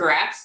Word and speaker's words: Grazzt: like grats, like congrats.